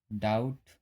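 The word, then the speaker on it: doubt: जैसे यहाँ पे DEBT है तो हम इसका बी का उच्चारण नहीं कर रहे हैं, ये साइलेंट है। डाउट, शटल, ये बी साइलेंट है।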